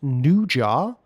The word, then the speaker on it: Nezha: But the number one film, I'm probably not going to pronounce this one correctly, but it's pronounced Nuja and spelt Nezha.